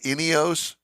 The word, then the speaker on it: Ineos: which is the uh inos dealership for uh the area wow well that's a fancy dealership there I like it all right so did I pronounce it right inos yes inos Grenadier is the name